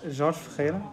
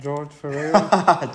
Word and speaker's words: Jorge Ferreira: How do you say it? Jorge Ferreira. Is Jorge Ferreira. Hater. But like the English version would be something like George Ferreira.